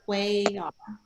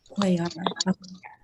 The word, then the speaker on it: Cuellar: It's pronounced Cuellar. Cuyar.